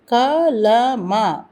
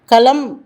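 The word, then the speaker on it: कलम: சாதாரணமாக ஹிந்தியில் இறுதிச் சொற்கள் பாதியாக உச்சரிக்கப்படுகின்றன. இங்கு கூட பாருங்கள், கலமா என்பதை கலமா என்று சொல்வதில்லை, களம் என்று தான் சொல்கின்றோம். அது ஏன்?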